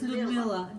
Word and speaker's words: Lyudmila: Pronounce it Lyudmila. Just ignore the Y.